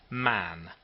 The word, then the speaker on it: Mahon: white long beard and his name was Mahon but but he insisted that it should be pronounced man he was well connected